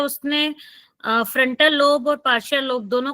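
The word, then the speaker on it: parietal: पैरेटल भी पैराइटल। बोल देते हैं, पार्शियल भी बोलते हैं पैराइटल। उसको ना, पैरेटल लोब कहते हैं मोस्टली। ठीक है, पैरेटल। कई जगह प्रोनाउंसिएशन पार्शियल लोब भी कहते हैं उसको, ठीक है। पैरेटल भी इसको बोल सकते हैं।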